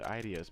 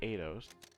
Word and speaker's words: Eidos: I've been pronouncing the Idios, but he said Eidos.